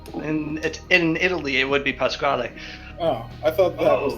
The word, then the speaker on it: Pasquale: my shop who goes by whose name is Pasquale. Oh, okay. It's Yeah. spelled that way. Huh. And that's how it's pronounced. Yes, and that's how it should be pronounced. But I pronounced it Pascal, and I want to keep it that way